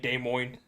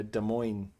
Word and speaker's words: Des Moines: my husband's family yeah des moines i've been saying it wrong this whole time why i've been saying demon demoing yeah because it's des oh yeah des moines des moines des moines that's